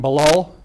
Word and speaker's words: Balal: Charged is Abdallah, I'll spell that for you, A-B-D-U-L-L-A-H, Amer, A-M-E-R, 18 years of age, and Balal, B-A-L-A-L, Jeha, J-E-H-A, 19.